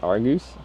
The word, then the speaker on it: Argos: It's pronounced Argus.